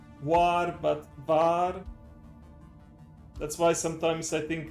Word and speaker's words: war: Most of in German the W is more like a V pronounced, not W war, but bar.